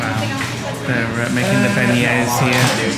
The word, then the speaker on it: beignet: She says they do really good beignets, so we can pass up an opportunity to try a beignet. Nick, you pronounced it correctly.